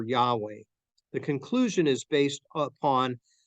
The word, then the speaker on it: Yahweh: It goes on, says the exact pronunciation of Yahweh is unknown, but many today favor Yahweh.